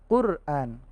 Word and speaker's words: Qur'an: bukan alamat tapi alamal Quran ini huruf qaf ya bukan huruf Kaf huruf qaf bacanya zona qur-an qur-an Nah ini baru Hamzah